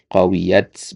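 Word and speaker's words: قَوِيَتْ: Qawiyat ya. Kalau antum ketemu kayak begini-gini ini ya, ini pasti sukun dia nih. Dari mana antum tahu? Karena yanya-nya ini ya, yanya ini ya itu kan dia huruf yang bermasalah ya, hurufah ya huruf yang agak unik lah gitu istilahnya ya. Antum kalau ketemu huruf yang agak unik seperti ini ya pasti telahnya itu sukun ya.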